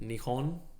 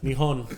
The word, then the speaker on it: Nihon: I'm going to fucking Nihon, which is how they say Japan in Japanese, which I didn't know until recently.